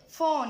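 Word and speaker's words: phone: حرف الاي لما بيجي في اخر الكلمه ما بننطقهوش يا جماعه، لا ينطق. فون يعني ما قلتش فوني، لا فون فون فون اللي هو التليفون.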